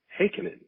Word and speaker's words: Heikkinen: and my guest today is matthew heiken that's it for those of you who don't know how to pronounce the the name i i had a